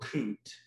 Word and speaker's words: Kute: and i thought well i just got coot kut and then i just added an e on the end to make the pronunciation easier and that just became